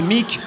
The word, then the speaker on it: Meak: Mon nom de scène, c'est Mick, et les gens, parfois, ils savent pas trop l'écrire. Mick, ça s'écrit M-E-A-K.